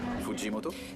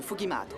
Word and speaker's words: Fujimoto: Fujimoto? Ça se prononce Fugimato.